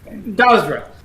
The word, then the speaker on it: Gazra: Priestess of Gazra? Is that how I pronounce it? Yeah. Gazra.